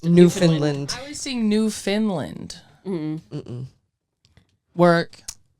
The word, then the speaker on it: Newfoundland: it's spelled Newfoundland, but it's pronounced Newfoundland.